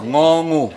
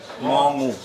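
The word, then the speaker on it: ง งู: Ngongu. Você não pode pronunciar bem. Ngongu.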